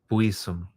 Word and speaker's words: Buisson: Buisson. It's pronounced in parentheses next to you, so you don't have to keep wondering or mispronouncing it.